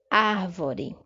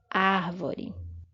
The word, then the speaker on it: árvore: Árvore. Aí você tem a sílaba tônica destacada. Árvore.